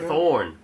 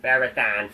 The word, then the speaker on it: Ferrothorn: Ferrothorn. What's that? Ferrothorn. Thorn, yeah. I say thorn. Why he's running a marathon? Because I got a different accent. Are you fucking not pronouncing that ah? Ferrothorn. Ferrothon.